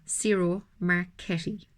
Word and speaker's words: Ciro Marchetti: I saw his correct pronunciation in some video. Ciro Marchetti.